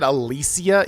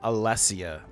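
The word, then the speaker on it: Alessia: Also, she said Alysia, even though it's like E SS. You would think it would be Allesia.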